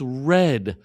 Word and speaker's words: read: And read becomes read. The pronunciation changes.